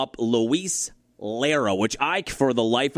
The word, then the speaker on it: Lara: Did I say it wrong? Luis Lara. That's how you say it. L A R A Lara.